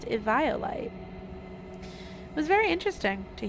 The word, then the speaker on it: Eviolite: Apparently it's supposed to be pronounced Eviolite.